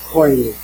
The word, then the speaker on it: Koinis: My name is Koinis, Koinis, pronounced Koinis.